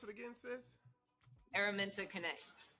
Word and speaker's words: Araminta Connect: And she is it's pronounced, pronounce it again, sis? Araminta Connect.